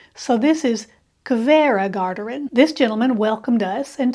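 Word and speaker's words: Hveragerði: guide told me that the H is pronounced like a k When in front of a v so this is Cava gardin this gentleman welcomed us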